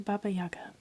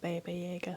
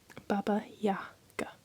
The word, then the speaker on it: Baba Yaga: It's not Baba Jagger. Let me Google it. Baba Yaga. The A in Baba is pronounced like the A in father.